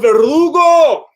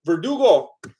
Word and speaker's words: Verdugo: unreal for him joseph verrugo i think i said your name wrong verdugo thank you joseph oh i forgot